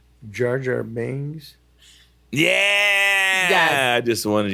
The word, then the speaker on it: Jar Jar Binks: Jar Jar Binks. Yeah. Yes. I just wanted you to say it. Say it again. Jar Jar Binks.